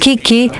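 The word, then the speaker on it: 危機: wanted to say that in Japanese and also in Chinese the world crisis which is pro uh pronounced Kiki the first character means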